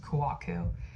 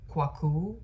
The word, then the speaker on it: Kouakou: time pronouncing it but my last name is pronounced Kaku I guess you can pronounce it like as quu which is kind of like more like the ivorian way and I guess some